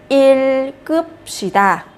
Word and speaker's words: 읽읍시다: Các bạn giữ lại cái từ đầu tiên này. Và cái từ thứ hai này các bạn sẽ nối lên, sẽ đọc là 읽읍시다.